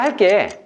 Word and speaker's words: 할게: 실제 발음은 1번처럼 나죠. 그거 내가 할게. 강의를 할게. 1번처럼 나지만 표기는 2번이 맞습니다.